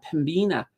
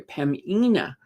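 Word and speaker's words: Pembina: we've got Waste Connections Pina or sorry pamina I I know the B is silent so I'm always trying to not use that be uh Enbridge foris Hydro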